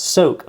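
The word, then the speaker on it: SOK: So the sock, pronounced soak, okay, soak pepper spray.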